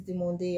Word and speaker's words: demandé: Remember, this is demandé. Every time there's an accent on the E, don't skip.